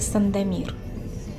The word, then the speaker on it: Сандомир: вспоминаем город сан домик в русском произношении это сандомир также писали на стара